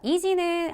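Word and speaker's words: 意地: 하는 한자 보실게요 자 이지는 한자 그대로 읽으면 우리 말의 의지죠 근데 우리가 알고 있는 의지가 있다 없다 그 단어가 아니죠 그리고 발음 보시게 되면이 경우에는 땅지 자가 기본음의 치가 아니라 지라고 읽힌 것도 한번 확인하시면서 이지는 우리말의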